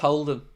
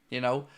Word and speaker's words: Houlden: It's pronounced Houlden, by the way. I've no idea where the U came into my family name over the years. Like, it's weird, Houlden.